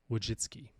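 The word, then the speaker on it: Wojcicki: can't even say it I think it's pronounced Susan wiu jitsy and she's formerly Youtube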